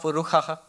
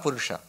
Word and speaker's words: Purusha: And he was chanting it, Puruham evedam sarvam sahasra sirekha puruhaha. Sahasra Shirsha Purusha. That is the original. And all the shas he was pronouncing as kha.